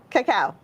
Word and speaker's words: cacao: beans chili tomato tony potato vanilla and cacao coco how do you say it cacao but we're doing the squash part of our